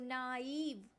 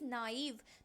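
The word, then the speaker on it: naïve: और इसलिए मैं इस आई पे जोर दे रही हूं। नाइव है ना? अदरवाइज इसे नेव कह सकते थे बट दिस इज नाइव।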